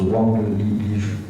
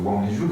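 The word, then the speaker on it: 王立军: Et cet événement, là, j'aimerais qu'on y revienne, de ces 30 heures de ce super flic, alors je crois qu'on prononce Wang Lijun.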